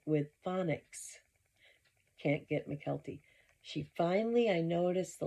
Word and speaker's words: Mykelti: Mykelti Brown. Boy, she's butchered that one the whole year she's been covering the Browns. People spell it out for her, like with phonics. Can't get Mykelti.